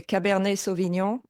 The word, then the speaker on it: Cabernet Sauvignon: French we would say Cabernet Sauvignon. And I know the "nion" is difficult to pronounce for non-French native.